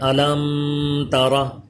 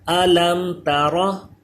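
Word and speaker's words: أَلَمْ تَرَ: بعض لوگ سورہ فیل میں یہ آتا ہے علم ترى کیف فعل ربک باصحاب الفیل اس میں پڑھتے ہیں علم ترى. ایسے غلط طریقہ ہے. اس میم میں غنہ نہیں ہوتا. اظہار شفوی ہے تو غنہ نہیں کریں گے.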